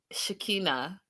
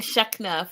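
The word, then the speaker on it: Shekinah: a year but it's shikina shikina shikina I've been saying shna for and literally I've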